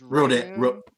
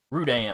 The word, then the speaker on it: Rudan: I thought it was Rodan. Rudan, R-U-D-A-N, Rudan. I believe is how you spell it.